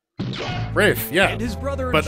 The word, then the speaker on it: Ralph: easy yeah ray finds first name is spelled like Ralph but pronounced yeah Rafe Rafe yeah it is brother